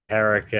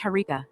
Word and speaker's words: Harika: It's Harika, not. And I'm doing just fine, thank you. This is mind blowing. So I should call you Erica? Is that pronunciation correct? Erica? Oh, moist boy, you really know how to push my buttons. No, you shouldn't call me Erica. It's Harika with an H.